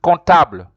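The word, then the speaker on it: comptable: don't you don't pronounce you don't pronounce com comfortable you say contab c-o-m-p-t-a-b you could pronounce it contable so just below below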